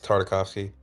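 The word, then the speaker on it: Tartakovsky: No, you're actually pretty close. It's Tardikovski.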